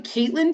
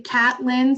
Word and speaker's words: Catlin: Now, her name is probably Caitlin Tucker, right? If you know how to spell it, but it's spelled Catlin. So I always say Catlin, so I remember how to spell it.